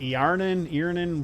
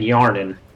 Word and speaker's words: Yarnin: Earnen? What? What are you thinking, Elliot? I was saying Yarnin. Yarnen? Yeah, Yarnin. Earnen? Yeah, Yarnin. Like Yar, but not full Y.